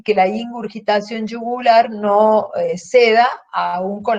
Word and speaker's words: ingurgitación: Les pido que recuerden con claridad la palabra, es ingurgitación yugular, no ingurgitación. Ingurgitación se escribe con G, pero no tiene U en la segunda sílaba con G, por lo tanto suena ingurgitación yugular.